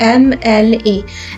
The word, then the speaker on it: MLA: तो MLA का pronunciation क्या होता है, देखिए MLA। MLA मीन्स इसमें जो साउंड आ रही है वो आ रही है एम, L A, क्योंकि फर्स्ट प्रोनाउंसिएशन जो है ई है, ई से स्टार्ट हो रही है, एम मतलब ए, एम